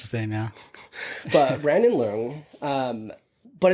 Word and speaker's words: Luong: It's Lung. Lung. Okay, cuz I was going to say Long and I would have No, no, no, nobody ever gets it right.